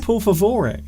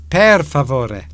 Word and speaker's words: per favore: Per favore. Are you please. Okay? Are you having a stroke? No. Per favore, please. I think I can count to 10. Por favore. It's per favore.